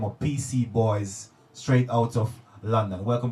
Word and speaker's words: PC Boys: They go by the name of PC Boys, straight out of London. Welcome to the show, brothers. Yeah. Did I get the name right? Yeah, you got it right still. It's PC Boys, yes?